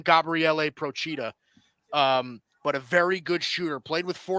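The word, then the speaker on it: Gabriele Procida: very he's a uh italian guy so you do pronounce his name gabriele prochita um but a very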